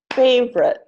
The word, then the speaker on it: favorite: So all of these words are pronounced aspirin, average, Barbara, business, camera, different, evening, every, family, favorite, federal, general, interest.